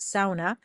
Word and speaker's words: sauna: So, I went to Finland last year and I learned that a sauna is not a sauna. It's pronounced sauna.